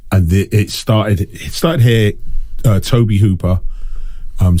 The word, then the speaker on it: Tobe: I always thought his name was to but I've heard people say it's Toby I literally have just been going Toby yeah I I've all my life thought it was to I heard someone say his name in an interview once and they said Toby and I assume they know him better than I do so ever since then I now say Toby you know um I